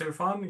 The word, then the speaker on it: Ian: Is that how how it's pronounced? Ian. Yes, it is.